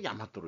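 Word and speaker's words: 日本: 밝히고 있습니다 하지만 그 일본은 일본이나 일본이라고 읽지 않습니다 어떻게 말하는가 야마도라 칭했던 것입니다 일본이라고 해서 마라고 훈독하고 있었습니다 한자로 일 일본이라고 써도 야마토로 읽고 대화라고 써도 야마도라고 읽습니다 왜 야마도라 호칭이 널리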